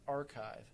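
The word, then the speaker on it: arXiv: most of them on archive that's a RX IV pronounced archive again I name it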